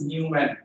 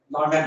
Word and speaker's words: Neumann: at those points, okay, we call it Neumann. It is not pronounced as Newman. It is Neumann boundary condition.